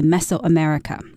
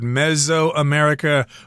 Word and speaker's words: Mesoamerica: So vanilla is a member of the orchid family, and it is native to Mesoamerica. Right, and you can pronounce this word Mesoamerica or Mesoamerica. Both pronunciations are acceptable.